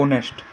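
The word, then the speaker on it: honest: number A ऑनेस्ट ए के हमें होनेस्ट नहीं पले ओ नेस्ट पोशन है कि नहीं ऑनेस्ट तो एच लेटर साइलेंटचे तो हम क्वेश्चन नंबर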